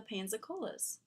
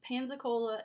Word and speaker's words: Pensacola: The change of pronunciation to Pensacola seems to have occurred under British rule, as the English used Pansacola and Pensacola interchangeably. When the city returned to Spanish rule, Pensacola was again used exclusively until the